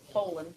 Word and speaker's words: Polland: I need Miss Polland is it po or Poland Poland it's a long o him Mr sus and